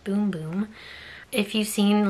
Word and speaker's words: Bum Bum: Brazilians favorite body part the bum bum pronounced boom-boom says right there so that's kind of